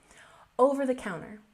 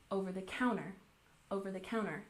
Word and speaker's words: over the counter: Over the counter. We stress the fourth syllable, over the counter, and we usually smush these words together, over the counter.